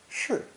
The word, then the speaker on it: 是: Combined with the sun, we have a very important new character, pronounced 4th tone, 是, 是, meaning yes, that's right, affirmative.